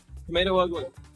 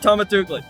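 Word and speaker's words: TomatoUgly: Tomato ugly. How do you pronounce that name? Tomato Ugly. That's how you say it. Tomatugli. It's not Tomatugli. It's Tomato Ugly.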